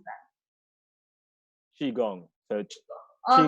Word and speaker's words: qigong: How do you pronounce that? Qigong. So Okay. Qigong is an ancient Chinese martial art that's about mastering your breath and mastering your emotions and everything in your body.